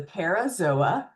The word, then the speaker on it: parazoa: If they do not have true embryonic tissue, they are the parazoa. Zoa, remember, pronounce every vowel.